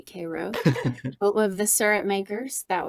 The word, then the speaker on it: Cairo: little tiny town called kro Georgia spelled like Cairo Egypt but they definitely say Koo of the surup makers